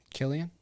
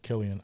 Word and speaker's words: Cillian: Cillian Murphy is down Killian yeah Killian I don't know why I always say silly that's how I pronounce it for until I heard it pronounced properly but I mean now